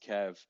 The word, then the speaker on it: QEV: up the Kev token it's qev pronounced Kev um it's also important